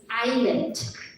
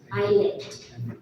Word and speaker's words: islet: Islet. Yeah, your time start. Yeah, a small island called island. ILET. Give it a try. ILI. Incorrect. The correct spelling is ISLET. Here is silent. Islet. So in the second round,